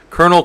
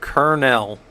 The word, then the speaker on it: kernel: device right I didn't know the difference between Colonel Kel am I just not saying it right kernel kernel oh all right all right right